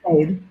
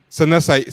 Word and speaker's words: Saeed: We are here with I'm not sure I pronounced your name right. Isana Saeed, proper way. Saeed. Sana Saeed.